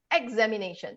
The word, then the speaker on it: examination: You just remember anything before shen, Tion, Sion. You stress the syllable just before shen. You will sound very clear.